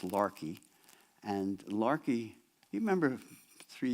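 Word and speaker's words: Laki: the way it's spelled it looks like Lackey l-a-k-i but it's pronounced Larkey and Larkey you remember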